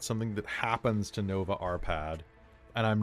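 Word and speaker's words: Árpád: that's how you're saying it, because I'm hearing iPad. Arpad. Well, it's ARPAD, so Arpad probably.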